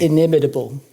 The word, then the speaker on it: inimitable: Can't pronounce that one. You do it. You're the PhD. Inimitable.